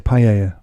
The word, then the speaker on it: paella: I love that you say paella. That's how you say it.